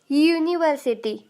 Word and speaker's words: university: क्योंकि साउंड देखिए य का आ रहा है। यूनिवर्सिटी, यूनिवर्सिटी, यूनिवर्सिटी, य का साउंड आप लोगों को सुनाई दे रहा होगा, इसलिए हम लोगों ने यहाँ पर अ यूनिवर्सिटी कहा।